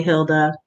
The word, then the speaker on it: Hilde: I'm sorry, Hilda. It's spelled like it's Hilde, but it's Hilda.